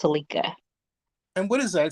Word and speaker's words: Selika: don't uck it up well my name is pronounced celika It's s e l i k a and is Cela pronounced celika and what is that it sounds like a